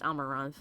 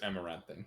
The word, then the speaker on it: Amaranthine: As the blighted lands began to heal and the Grey Wardens slowly rebuilt the order in Amaranthine, or actually, that would be pronounced Amaranth. It is Amaranthine.